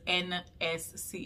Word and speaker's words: Enesscee: It's Enesscee _ that's ENESSCEE, and you pronounce it like the letters NSC. It's literally my initials as a word. So yeah, in case you were wondering.